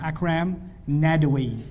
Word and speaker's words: Akram Nadwi: Akram Nadwi. A-K-R-A-M. Akram Nadwi.